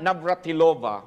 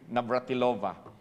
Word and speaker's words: Navratilova: player talent it was just luck but Martina Navratova one of the greatest player tennis players of all time did I say it correctly brother Sherwin Navratilova nag-ingon siya dili dili ka makaabot ana ng